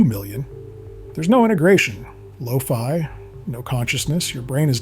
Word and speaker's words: phi: Tononi uses a Greek letter called phi, that's spelled P-H-I and pronounced like phi, or sometimes phi, to measure this integration.